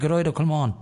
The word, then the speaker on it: Gearóid Ó Colmáin: So that's how you pronounce it, Gearóid Ó Colmáin.